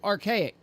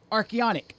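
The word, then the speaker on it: Archeonic: to subscribe first to archaic wait Arch archonic archonic that's right let me spell that for you guys if I can a r c h e o n i c that's it and it's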